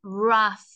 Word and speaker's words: rough: I know that there's an OU that sounds like an A and G H like an F it wasn't rough same as the word tough strong rough tough uh